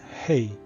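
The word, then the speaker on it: הא: The next letter is hey. Hey. It's a bit like the age of English. Has a very um little bit of air comes out of the mouth.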